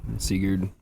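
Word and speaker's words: Sigurd: Fafneer slain by uh Seigur. Seagur.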